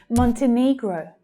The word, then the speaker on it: Montenegro: The third syllable there is stressed. Montenegro. You can hear that the first one is also quite strong. Montenegro. And that final syllable there is the O as in go sound.